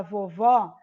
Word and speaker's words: vovó: que é o da vovó, esse acento eu vou colocar quando eu falar a palavra e o som for mais aberto, ou seja, eu vou abrir mais a minha boca para pronunciar.